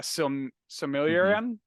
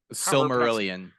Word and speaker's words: Silmarillion: you know it feels tolkien-esque with the uh similarium silmarillion silver Marillion thank you I'm terrible at pronunciation somehow um but that that kind of